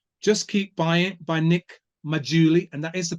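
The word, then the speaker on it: Maggiulli: by Joe Wiggins just keep buying by Nick mauli and that is the pronounciation that correct one I've got it correct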